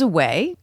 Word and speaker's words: Aweigh: So the title, Anchors Aweigh, is a pun. Get it? Anchor away. When we say away, you probably can't tell which way we are spelling it.